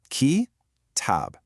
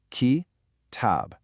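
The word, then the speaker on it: كتاب: It has a short start, followed by a long stretch. The first part, ki, is short and quick. The second part, tab, is long. Listen to that rhythm again. Ki-tab. Short, long. Ki-tab.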